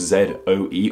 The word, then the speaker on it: Zoe: Z-O-E with a diuresis, and this makes sense that we don't say it in the same way we say the name Joe or Toe, it's Zoe, we don't just say Zoe.